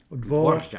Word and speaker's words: Dvořák: Except I can't pronounce it except very fortis, and they pronounce it lenis. They pronounce it very softly, and I'm not able to pronounce the sound unless I do it very strongly, very fortis.